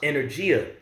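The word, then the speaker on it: ἐνέργεια: word working there and the greek is pronounced energia which is where you get the word energy from all right which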